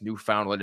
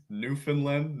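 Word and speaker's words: Newfoundland: a stickler the pronunciation it's New Finland not new oh is it oh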